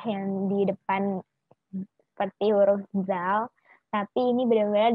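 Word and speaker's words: ذ: Terus huruf kedua itu ada zal. Seperti yang aku bilang tadi, lidahnya agak lidahnya itu berada di antara dua gigi depan. Zal, agak digigit gitu.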